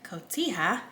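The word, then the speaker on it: cotija: And same thing with that feta cheese or that kotia if you want to use that y'all. I learned how to pronounce that.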